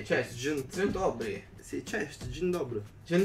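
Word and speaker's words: Dzień dobry: Allora, io lo leggo come lo leggerei io, Je dobry. Je No, questo qua è tutto insieme. Si legge tutto insieme, ma è tipo magistrana. Cioè, ma ti pare che devo fare cazzo di professore? Dai, che sarebbe Jen dobry.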